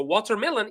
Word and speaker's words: watermelon: So, watermelon, it's the first one that is stressed. So, watermelon, watermelon, watermelon. So, the stressed syllables are wa and me. Wa, me.